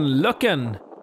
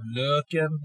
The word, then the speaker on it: Løkken: It's day number two in Løkken, and we are trying out some really cool DJ equipment.